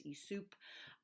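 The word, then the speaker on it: Aesop: and um I'm I'm I'm saying ESOP it's spelled aeop p the way that I learned to hear it which was ESOP I've looked it up you sometimes see it hear it um as esup it was um he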